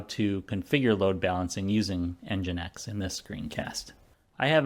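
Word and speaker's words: NGINX: We're going to use an open-source software package called EngineX. It's spelled NGX and EngineX is developed to help automatically balance the load between multiple servers or multiple applications that are running.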